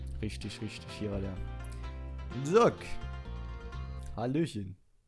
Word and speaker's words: Jacques: Früher habe ich den Jacques ausgesprochen, weil so, ich habe immer so Marquez im Kopf gehabt, aber das ist Spanisch. In dem Fall wäre es jetzt, glaube ich, eher Französisch, so wie Frère Jacques.